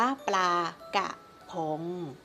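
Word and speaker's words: ปลากะพง: ถูก ต้อง นะ คะ ไม่ มี รอ เรือ ค่ะ อ่าน ว่า ปลา กะ ผง เขียน แบบ นี้ นะ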